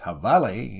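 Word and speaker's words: jabalí: in their own haunts the habali pronounced havale in the mexican version of the spanish language is the wild hog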